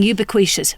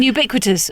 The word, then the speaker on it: ubiquitous: I still mispronounce words. I used to say nave instead of naive. My big one was saying ubiquitishious. For years I said ubibequishitious until somebody said, "I presume you mean ubiquitous."